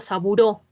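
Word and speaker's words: Sabouraud: Y el medio de cultivo para los hongos es el medio Saburó, se escribe Saburaút, ¿listo?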